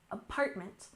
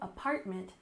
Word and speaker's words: apartment: We have emphasis on the second syllable, apartment, apartment. It's not a house, but it's a unit within a building, a residential building. Let's look at an example sentence. She just moved into a new apartment downtown.